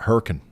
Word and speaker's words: Hurricane: County where I live called hurricane but we pronounce it hurrian literally um the lights are green so that